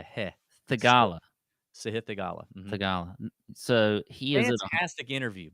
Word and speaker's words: Theegala: He said it's pronounced Sahith. Sahith. It's more of a he, not a he. Theegala. Sahith Theegala. Mm-hmm. Theegala.